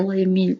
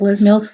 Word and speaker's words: Les Mills: The Les Mills, Les Mills, I say Les Mills because my French, but most people pronounce Les Mills, so I'm trying to pronounce it the English way.